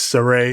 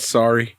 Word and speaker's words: Sarray: Her name is Sarah now. I mean, it's the same pronunciation as it was in Japan. They just changed the spelling. Well, the way they spell it now is like Sarah. Yeah, like it's like Sarah with a Y at the end. Yeah. But like, if you look at it, it's how you would pronounce it, I guess. Sarray. Yeah. Yeah, so. Not sorry. Yeah. It's not sorry.